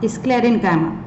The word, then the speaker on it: sclerenchyma: अपने नोट्स में, हाँ, स्क्लेरेनकाइमा। काइमा, this is काइमा नॉट चाइमा, कॉलेनचाइमा, parenchyma, sclerenchyma, it is wrong pronunciation. okay, it is sclerenchyma, kaima, okay, sclerenchyma।